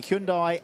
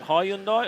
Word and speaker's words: Hyundai: 99 and 1389 qu question is it Hyundai or Hundai I'd just say Hundai Hundai Hundai H I feel like I'm saying it correctly 9 milph I but